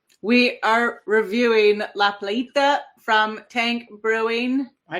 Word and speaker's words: La Playita: We are reviewing La Plita from Tank Brewing.